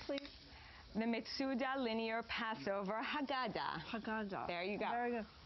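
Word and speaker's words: Haggadah: So, it's Can you pronounce this for me, please? The Mitsuda linear Passover. Hagada.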